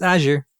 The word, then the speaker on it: Azure: It's pronounced Azure.